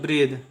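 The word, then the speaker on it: breathe: टी एच ई में ई क्या होगा साइलेंट होगा क्योंकि लास्ट में है इसका उच्चारण करते हैं हम लोग ब्रीद इसका उच्चारण होगा ब्रीद ब्रीद का मतलब होता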